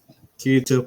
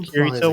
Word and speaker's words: Kirito: you can you take kirito one more time for me kitty i want to hear how you say it corrido it's like dorito but with a k okay it could be